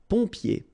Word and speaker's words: pompier: So remember what I told you. When you get this OM here, it will give you the sound on. So exactly the same sound as this ON. All right? So in your nose, pont, pont, pompier.